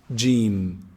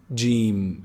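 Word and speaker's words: جيم: how you say it is pronounced from the middle of the tongue the middle section of the tongue and the roof of the mouth from inside jin jin it's very easy make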